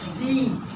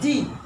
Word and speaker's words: die: Be careful also when you write the article die, don't say die. It has nothing to do with English. This is what we have seen is a E long.